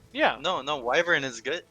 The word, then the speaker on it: wyvern: try to hit the right one you mean wver yeah why do you why do you pronounce it like that so pronounce wyvern W yeah wait is saying wyvern wrong yeah no no wyvern is good like right correct W is wrong